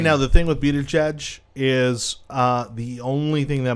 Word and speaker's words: Buttigieg: I think that's how I say it, Pete Buttigieg.